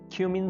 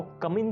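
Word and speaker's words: cumin: क्यूमिन seeds, क्यूमिन seeds, इसको कमिन seed नहीं बोलना, कमिन नहीं बोलना इसको, ये है क्यूमिन, क्यूमिन, क्यूमिन सीड्स हम कहते हैं ज़ीरा को।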